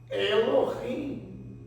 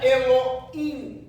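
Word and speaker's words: אלוהים: Uma outra forma, Elohim. Elohim. Elohim. Deus não é Eloim, é eloim.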